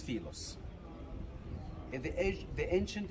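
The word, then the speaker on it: Philae: this island the island what they called it feel it it's a wrong pronunciation for the name the name originally it's filos in the edge the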